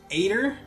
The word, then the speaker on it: Eitr: Anyway, the first one is Aitor, I think is how it's pronounced. E-I-T-R. Aitor, whatever.